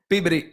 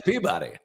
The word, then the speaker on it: Peabody: and by the way they don't say and that journalist is the winner of the pebbi award they say the peabody I was corrected once